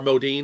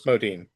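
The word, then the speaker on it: Modine: Al uh Matthew Molen or Modí. I don't know why I pronounced why it's Modin.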